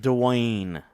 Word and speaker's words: Dwayne: I think you're adding a U after the D.